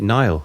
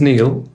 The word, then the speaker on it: Neil: right but um so my actual name is Neil right that's my birth oh I mispronounced it Nile at the start well